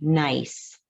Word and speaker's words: gneiss: end of the poem, you will hear a word that sounds like nice, but it's spelled Gneiss.